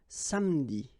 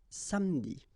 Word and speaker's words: samedi: Okay, same thing here, appeler, but then you get appeler, appeler, and then samedi. All right, so revenir, appeler, samedi.